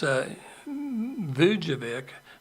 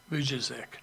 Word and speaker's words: Vujicic: We just call him Nick V because I don't really know how to pronounce his name. It's Vujicic. It's Vujicic, Vujicic.